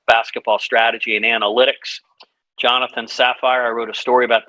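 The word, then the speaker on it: Safir: jonathan is spelled jonathan saphir sapphire spelled s-a-f-i-r but it's pronounced sapphire so those are the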